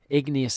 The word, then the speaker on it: igneous: lava are so hot igneous sounds like the word ignite so igneous rocks were